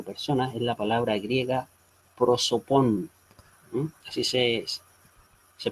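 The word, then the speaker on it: πρόσωπον: La palabra usualmente traducida como persona es la palabra griega prosopon. Así se pronuncia esta palabra en griego.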